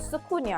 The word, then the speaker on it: SoukouGnan: Well, he didn't produce, he sang this song called Sukunya, right? And the Sukunya is spelled SoukouGnan, because that was like originally how the French spelled it in the French West Indies. SoukouGnan, right?